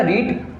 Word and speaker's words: read: यानी कि उच्चारण की दृष्टि से देखा जाए तो रीड का सेकंड फॉर्म और थर्ड फॉर्म को हम रीड ना बोलते हैं, रेड बोलेंगे, बाकी स्पेलिंग तीनों की सेम रहेगी।